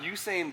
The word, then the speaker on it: Usain: We got Usain Bolt. Is that how you pronounce his name?